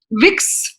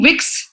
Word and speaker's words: Vicks: give you an example vicks introduced its cuff drops into the german market without realizing that the german pronunciation of b is f making wix slang for the sexual intercourse colgate launched